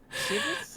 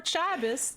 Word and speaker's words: chibi: It's chibis or chabis depending on where you're from.